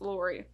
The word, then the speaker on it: Lori: It's spelled weird. I almost thought it said Laura, but it doesn't. It's Lori.